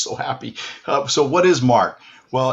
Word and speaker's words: marc: happy so what is mark well it's m-a-r-c the c is pronounced silently in french and mar is really